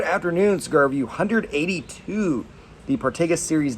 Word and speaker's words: Partagas: I call it Partagas. Some people call it Partagas. Call it whatever you want.